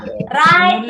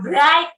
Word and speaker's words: write: Write, wrote. Menulis. Menulis. Bacanya bukan write ya, W-nya nggak usah Write. dibaca.